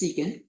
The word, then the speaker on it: secant: Sin then we have sec Theta this is pronounced secant and this is rx which is 1 over